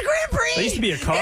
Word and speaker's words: Grand Prix: after our show and she said Grand Pricks and we were like what and we weren't on the in the cloud Under the Umbrella of the Ruland Ryan Show anymore and she's quick in her show we're like it's Grand Prix used to be a